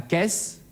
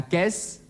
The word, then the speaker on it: caisse: Aber vor einem A, einem O oder einem U wird der Buchstabe C wie ein K ausgesprochen. La caisse, der Kasten, die Kiste,